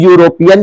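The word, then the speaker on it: European: हुआ है तो आपको यह बताना है कि यूरोपियन के पहले क्या आएगा, ए आएगा या फिर एन आएगा।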